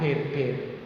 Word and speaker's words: beer: Bir ya berarti bir itu Pak, bir. Itu cuman aneh dari luar negeri ya, itu tulisannya BEER, itu bacanya bir ya gitu.